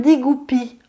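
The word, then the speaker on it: 地骨皮: Ça s'appelle Digupi en chinois. Alors ça s'écrit en 3 syllabes, Di, D-I, plus loin Gu, G-U, et plus loin Pi, P-I.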